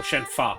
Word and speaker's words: Shenhua: Or Shenfa, I should say, because they pronounce it with a F noise.